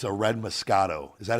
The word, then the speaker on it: Moscato: This one, it said deliciously sweet, and it's a red Moscato. Is that how you pronounce it?